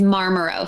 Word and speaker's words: Marmaros: oh yeah no problem my last name is marmarose so dr marmarose um yeah it's it's